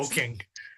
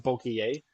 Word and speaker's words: bokeh: boking. It's a Yeah. It's a pronounced bokeh.